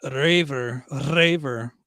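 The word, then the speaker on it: Reiver: I guess Raver. You got to roll the R, I guess, so it's properly pronounced.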